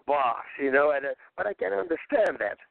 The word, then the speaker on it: Bas: It's like when they will pronounce, like with me, they call me Bass. Like, if you want to piss me off, call me Bass. I say that's a fish. That's a double ass. I'm Boss, but I can understand that because that's, people don't know.